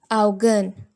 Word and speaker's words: Augen: A U together will be pronounced as Au. Au. Die Augen.